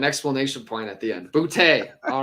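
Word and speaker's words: Boutte: thing it says is bootay pronounced boo Dash capital t a y so it's all right there it is like with an explanation point at the end boote all right I like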